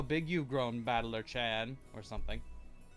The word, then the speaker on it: Battler: is my given name this part is made up of the characters for fight and person and it's pronounced battler put it all together